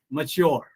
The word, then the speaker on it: mature: Similarly, the second word is not mature, it is mature.